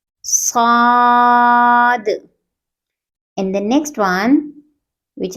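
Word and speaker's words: صاد: With round lips we will pronounce the third letter. Saw, Saad, Saad.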